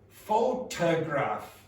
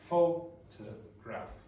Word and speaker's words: photograph: So, it's not photograph. It's photo photo photograph photograph. It's not going to have the same strength.